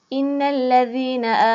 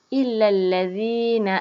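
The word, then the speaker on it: إِلَّا الَّذِينَ: walau Innalillahi sanalah khusus innalladzina a manual sini di sini ya selalu murai tersilap Hai Adit ukare alif lam ini dengan elemen Nah Tapi bacanya sebenarnya ialah Ilal ladzina amanu Ayo kita coba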